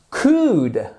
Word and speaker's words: could: help you pourraisje t'aider could I help you et là on ne prononce pas le l quel temps fait-il non